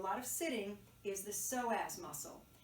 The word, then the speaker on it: psoas: these muscles called the psoas and the psoas it's spelled with a p the p is silent p-s-o-a-s and those muscles